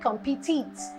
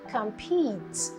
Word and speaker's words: compete: because of this word what people want to say the verb of this they say compete eats because of competition but the verb the rich word is actually compete and then this is